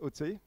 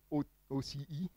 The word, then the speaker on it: Océ: It's actually pronounced OTC. Most people say OCE, but it's actually OTC.